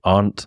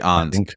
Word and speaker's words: Arndt: I struggled to pronounce his last name, Tug, so help me out here. Arndt. Okay, Gary Arndt.